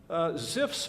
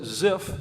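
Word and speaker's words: Zipf: Ziff's principle actually got this concept from a book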